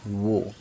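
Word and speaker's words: وہ: और छोटी हे पेश वो यही वर्ड दोस्तों हिंदी में वह पढ़ते हैं लेकिन उर्दू में वो यानी ह की आवाज साइलेंट है है ना स्वा जबर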